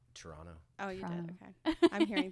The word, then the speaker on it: Toronto: yeah good okay yeah can you even just pronounce the second T there no Toronto oh yeah okay I'm